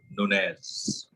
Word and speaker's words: Nunez: इसको नाम को प्रोनाउंस करते हैं Nunez.